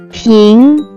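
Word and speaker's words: 瓶: Let's move to second character which can be pronounced as ping. Pronounce with second tone.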